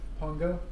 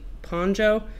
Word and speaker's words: Pongo: Pongo? Yeah, Pongo. But he thinks it's like Ponjo because his teacher's name is Ponja.